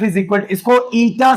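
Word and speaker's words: eta: Coefficient of viscosity, इसका formula दिया है F इज इक्वल, इसको ईटा से रिप्रेजेंट करते हैं। किससे रिप्रेजेंट करते हैं? ईटा। ये है प्रोनाउंसिएशन, ईटा।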